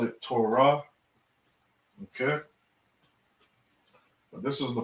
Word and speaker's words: Torah: five books of the bible they call it torah okay but this is the proper way to say this word it's all raw okay and it means the law it's very